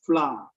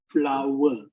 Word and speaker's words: flour: But this one, flour is the the powder rice flour. Flower. We normally say as flour, but the correct pronunciation is flower.